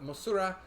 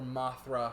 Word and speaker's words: Mothra: and the subject material mothra the moth mosura is her japanese name or mothra her americanized pronunciation or anglicized pronunciation i don't remember if